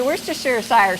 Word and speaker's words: Worcestershire: put in a little worcestershire sauce yes thank you for saying how do you say that i say where's the sugar sire style good that's what we